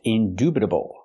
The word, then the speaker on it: indubitable: pronounce the word indubitable the word is pronounced indubitable we have to use the oo sound like food and moon indubitable not indubitable indubitable